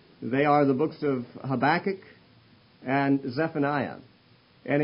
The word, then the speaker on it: Habakkuk: Whether they did it correctly or not, I don't know, but Habakkuk was the pronunciation. So if you're used to saying Habakkuk instead of Habakkuk, my apologies, it'll sound awkward to you every time I use the word.